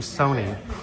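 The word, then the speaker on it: Sohni: was behind his mom Sony her name is spelled h o h s o h n i and uh this is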